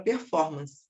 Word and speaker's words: performance: o caso da palavra performance. Ela é uma palavra proparoxítona, tá? Performance, o for, é a minha sílaba tônica mas ela é uma palavra de origem inglesa, então ela não é acentuada.